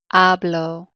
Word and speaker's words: hablo: just a moment okay in Spanish the rule is the second to the last syllable always gets the emphasis however if it doesn't fall on that second to last syllable then it's marked with the accent mark so you know which